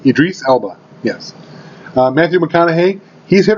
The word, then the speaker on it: Idris Elba: Idris Elba, yes.